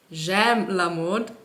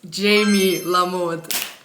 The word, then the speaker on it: JamieLaMode: a m i e so instead of jam lamod it's Jamie lamod and that's my Instagram